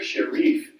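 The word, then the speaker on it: Sherif: What's really interesting about this is this Sharif, it's pronounced Sharif Camp study, and I'm going to show you a video about this study that proves this theory.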